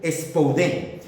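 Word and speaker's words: σπουδή: La palabra diligencia en griego se pronuncia expoden. Spoden.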